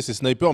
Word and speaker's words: SNPR: Alors, c'est Sniper, mais c'est SNPR.